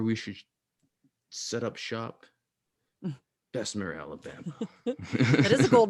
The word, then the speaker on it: Bessemer: It's structured this way on purpose, and there's a reason they set up shop in a town like Bessemer. Is that how it's pronounced? Bessemer, yeah.